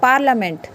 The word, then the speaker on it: parliament: PARLIAMENT होता है पार्लियामेंट। क्या होता है, पार्लियामेंट। पार्लियामेंट नहीं बोलेंगे, पार्लियामेंट होता है ये, ठीक है। तो यहाँ पे आई को प्रोनाउंस नहीं करते, अदरवाइज़ हम मोस्टली केसेस